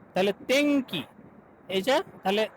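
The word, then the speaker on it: 天気: তেংকি তেংকি তেংকি। তাহলে নরমালি তেনকি হবে না, তেংকি।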